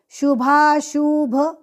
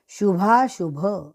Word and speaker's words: शुभाशुभ: भक्तिमान्यस में प्रिय शुभाशुभ यहां पे शुभाश शुभ गलती से बोलना नहीं शुभाशुभ पूरा श्लोक यो न